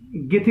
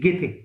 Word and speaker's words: Goethe: आपने गेथे का नाम सुना होगा, जर्मन राइटर है. Write down गेथे. पूरा नाम तो है जोहान वॉल्फगैंग वॉन गेथे. Okay, GOETHE, गेथे.